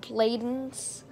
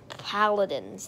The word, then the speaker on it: Paladins: If I'm saying it wrong, because I said Bladens. It's Paladins, not Bladens.